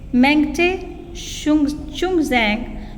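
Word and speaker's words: Mangte Chungneijang: Mary com, इट्स मेंगटे चुंगजैंग Mary com इज़ a well known Indian boxer from Manipur. बच्चे spellings pronunciation अच्छे से समझ लीजिए.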